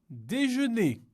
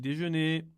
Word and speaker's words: déjeuner: l'entrée, le plat, le dessert, la formule, le café, le déjeuner, le dîner, Le petit déjeuner comment l'oves ici là comme tu peux le voir on ne prononce pas le r ici c'est prononcé la parce